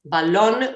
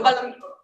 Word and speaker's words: balón: Whenever the sports we are speaking about, balón with an accent on the O, okay, not in this. Sorry, anyone say something? Okay. So balón.